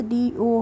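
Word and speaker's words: do: करेंगे ऐसे ही friends डीओ है तो डीओ को हम कैसे पढ़ेंगे डीओ को हम पढ़ेंगे डू क्या पढ़ेंगे डू पढ़ेंगे नेक्स्ट है फ्रेंड्स हमारा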